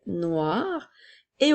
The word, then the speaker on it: noire: phrase le ballon est noir et au féminin nous avons n o I qui fait le son wa r e qu'on entend pas vraiment mais qui est là pour faire chanter la lettre R noire comme dans la